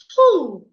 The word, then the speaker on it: who: When you have letter O after wh the W will be silent. So you should not say who. Please say who.